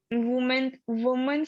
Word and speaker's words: Women: व को छोटी ई की मात्रा, व को छोटी ई की मात्रा और न बोलो अब।